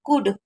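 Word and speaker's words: could: Milk, I कुड, आप देखिए मैंने अभी बताया था सी ओ यू को ऊ पढ़ते हैं और एल साइलेंट रहता है, तो इसलिए हम इसे कुड पढ़ते हैं।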